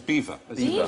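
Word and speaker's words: Belvoir: maning and bottom is B the bottom is beaver beaver the veil of beaver I'm going to have that if I ever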